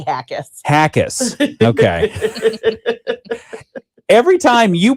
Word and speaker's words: Jaquez: Did I get that right? Pretty close. Say it. Brandy Hackis.